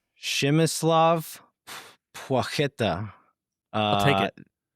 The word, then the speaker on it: Płacheta: Shimislav Pueta. Uh, I'll take it. Apparently the the P L with a line through it, it's like a W sound and then the CH